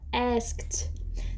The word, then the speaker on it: asked: aqui a palavra asked tem algumas palavras que terminam em Ed em inglês que nós fazemos som de Ed outr só de D e outras de T aqui é um caso que a gente não vai fazer som de Ed não é esed asked asked então vai ficar junto a